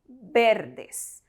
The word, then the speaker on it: verdes: And do not say verdes as V is pronounced as B in Spanish. So we say verdes.